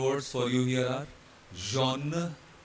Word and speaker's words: jaune: Right, so ignore the X first of all, and then all these spellings have the same sound, which is O. They all are to be pronounced as O. H will remain silent.